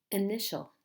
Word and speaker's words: initial: this word to yourself sounds like initial initial how many syllables in this word in Nishal there are three syllables which syllable is stressed which is the strong part initial initial it's the second syllable initial initial how about